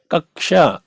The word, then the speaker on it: कक्षा: जैसे छा में हमें कहीं भी का और सा दिखेगा नहीं, केवल उच्चारण, कक्षा, कक्षा, कक्षा, कक्षा। ठीक है, कक्षा, रक्षा, ऐसे इसका उच्चारण होता है।